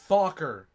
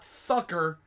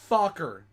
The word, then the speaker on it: Fokker: It is pronounced Fokker, not Thucker, Fokker.